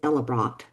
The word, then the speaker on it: Ellebracht: And the correct pronunciation of that, I believe, is Ellebracht.